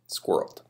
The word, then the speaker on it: squirreled: in a safe place it's also the longest word in the english language that has only one syllable squirreled okay i like i